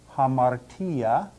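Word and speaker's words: ἁμαρτία: rough breathing Mark and is equivalent to putting an H sound in front of the V hamara let's look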